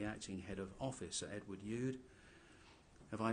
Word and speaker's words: Youde: head of officer edward youde have i mispronounced this or Proust it correctly is it you'd or yelled you you'd thank you but he has